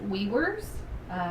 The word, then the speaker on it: Wewers: name is we worse my last name is pronounced we worse it's spelled you can see it on the screen we we are s that's how I tell